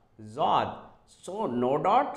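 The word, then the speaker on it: ض: is called in Arabic so it's a z Zod so no dot s Zod dot here as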